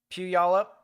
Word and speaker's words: Puyallup: So if you know anyone that lives over here on the southern side of Tacoma near Orting, Puyallup, I believe that's how that's pronounced, as well as Roy, and really just anywhere here in Tacoma.